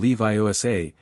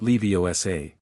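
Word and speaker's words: Leviosa: It's Windgard. I am Leviioa, she corrected. Not Leiosa.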